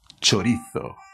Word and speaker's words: chorizo: web sobre show no chavales esto se dice chorizo claro hombre un chorizo venga a viva españa' hasta luego hola chavales